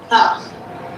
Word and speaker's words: half: Number four. Half. Half. Half. Yeah. What's wrong is L? L Yeah, L is a silent letter.